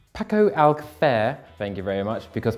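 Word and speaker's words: Paco Alcácer: And before you mention it, that is how it's pronounced. Paco Alcacer, thank you very much, because Pato says so, and he's a professional knowledge man.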